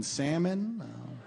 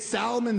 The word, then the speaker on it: salmon: Like, I should have known that we weren't going to be compatible uh the second I heard her pronounce the L in salmon.